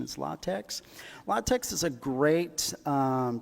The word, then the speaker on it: LaTeX: formatting uh latex I know I call this latex for a long time but I guess the proper pronunciation is latex latex is a great um Document Preparation system